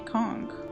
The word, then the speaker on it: conch: He does say conchk. Conchk as the as the primary pronunciation. Kunchch is like the secondary one.